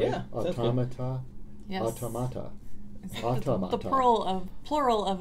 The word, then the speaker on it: automata: And I don't even know how to pronounce that word. I want to say... I think that's correct. Is that right? Yeah, automata?